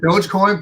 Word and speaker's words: Dogecoin: Yeah, well, they pronounce it Dogecoin, but really it's Doggy Coin because it was Target.